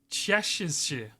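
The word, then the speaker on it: cześć: Say chesh is a Polish greeting pronounced chesh or chesh with the cz sounding like the ch in chair.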